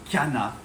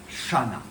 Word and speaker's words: Channa: Donc c'est une origine grecque et donc il faut dire Kana et pas chana.